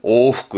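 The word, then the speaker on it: 往復: 발음은요. 오후그 왕복하는 오후크 할 때 이 오가 이왕자입니다.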